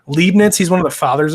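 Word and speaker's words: Leibniz: was leaden lemony Leibnitz Leibnitz that's how you say it lead Nats he's one of the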